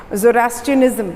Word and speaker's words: Zoroastrianism: एक होता है ज़ोरास्ट्रियनिज़्म, क्या बोलते हैं उसको, वो आपके लिए वर्ड थोड़ा सा टफ हो जा रहा है, ज़ोरास्ट्रियनिज़्म बोलते हैं। ज़ोरास्ट्रियनिज़्म स्पेलिंग मैं यहाँ लिख देती हूँ आपके लिए, थोड़ा सा एक सेकेंड।